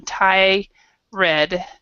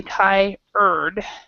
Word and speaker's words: tired: people separate them and they like this one tie red and this one I Ron, but it's actually not pronounced that way. So in for this one, it's basically Thai-erd.